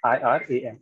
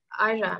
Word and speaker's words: Iran: For example, the country Iran, I R A N This is the This is the spelling. Americans tend to pronounce it as Iran. Iran.